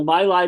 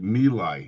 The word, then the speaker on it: My Lai: How about people remembering My Lai, the My Lai massacre? Right. It's pronounced Mila.